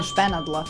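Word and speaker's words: špenadla: First three letters are pronounced "shpe". They are above the letters LA which are read as "la". In Serbian above is "nad". So, "shpe" + "nad" + "la" equals Shpenadla which means pin.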